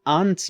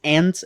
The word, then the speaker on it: aunts: A curiosidade aqui é que eu usei a pronúncia aunts, mas ants é a pronúncia mais comum nos Estados Unidos e por acaso é a mesma pronúncia da palavra formigas.